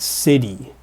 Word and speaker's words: city: But of course, you think about how it's commonly pronounced, you know it's something more like— we say it almost more like a d sound to it. It’s like siddy.